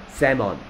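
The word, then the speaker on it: salmon: 얘는 L이 소리가 안 나. 그래서 세먼이라고 읽어야 돼. 근데 선생님은 스펠링 외울 때는 셀먼이라고 외웠어. 맞습니까? 오케이. 쓸 때는 셀먼이라고 쓰고 읽을 때는 뭐라? 세먼.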